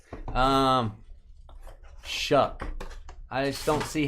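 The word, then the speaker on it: Shough: You say his name Shuck. I just I don't see how that's possible. Sh. H O U G H is Shuck.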